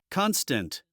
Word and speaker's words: constant: constant, elegant, distant, Remember also about the pronunciation. We would not say ant because that sound is not the main sound of the word.